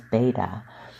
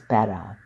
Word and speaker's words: Betta: to around 3 inches I'm still guilty of mispronouncing their name as beta but its proper pronunciation is better the name has been